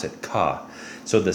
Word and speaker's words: CAH: You pronounce it ka.